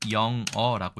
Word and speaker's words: 囹圄: 그래서 방금 말씀드린 바와 같이이 글자는 영어라고 읽습니다 죄인을 가도와 두는 곳